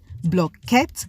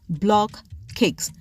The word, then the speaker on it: block cakes: cakes in the market consumers call the bread based on their own phonetics hence the reason why the bread has multiple pronunciation and spelling some of which are blockade blockade blocket blockade hence the real name for this braid is block cakes little cakes formed in